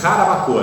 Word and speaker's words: Jarabacoa: Em 1983, na República Dominicana, houve na cidade de Jarabacoa, a pronúncia é Jarabacoa, tá?